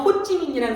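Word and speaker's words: Hồ Chí Minh: 자, 이때 베트남을 이끌었던 유명한 지도자가 있다면 호찌민이라는 사람입니다. 한자 발음으로는 호정명이라고 부르는데요.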